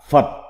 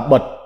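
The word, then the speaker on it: 佛: Âm Hán Việt đọc là Phật, còn có âm đọc khác là Bật, là Bột, là Phất. Nghĩa Việt là Đức Phật, là đạo Phật, là Phật giáo.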